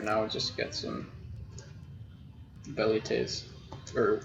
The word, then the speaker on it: velites: Kaiser with a K, and W's, or V's as in velites, would have actually been like a U sound, or a W, so it would have been like velites, because they didn't make the V sound.